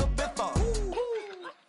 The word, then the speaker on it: Ibiza: I just went to Spain, that's a bitha. Ibiza. Yeah, it's pronounced Ibiza, actually.